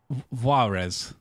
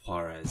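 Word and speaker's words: Juarez: do you pronounce this is it varez call of Call of varez oh call of harez pz yeah so there's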